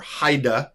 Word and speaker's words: Haida: dad, married her mom, Heidi, or Haida, depending on how you pronounce it, if you want to be correct in the Dutch or Afrikaans.